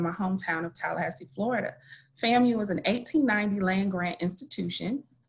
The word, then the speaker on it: FAMU: Milena explained earlier that's pronounced FAMU.